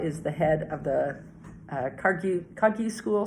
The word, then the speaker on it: Kagyu: But 17th Karmapa is the head of the Kagyu school, sometimes pronounced Kargyu. Like many things, letters come in and out. They don't mean anything. Kargyu is the same as Kagyu.